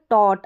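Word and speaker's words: taught: जैसे यहाँ पर देखें टॉट, क्या है टॉट, ए यू जी एच का उच्चारण ओ करके रह रहा है तो टॉट है, टी का उच्चारण ट है, तो ओ तो यहाँ पर देख लिया टॉट।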